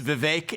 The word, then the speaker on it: Vivek: It's Vivek. It rhymes with cake.